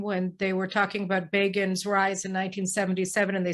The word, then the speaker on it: Begin: they were talking about begins rise in 1977 and they said begin rhymes with fagin remember that yes um